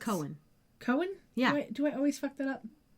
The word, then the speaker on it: Cohen: But, like, it's Cohen, and I always want to say it Cowan because of how it's spelled.